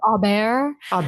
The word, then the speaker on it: Aubert: I listened to the audio book, too, and the audio book has strong French pronunciation, and I was like, "Oh, okay." Um, okay. Agnes Aar's Mystical Cat Shelter.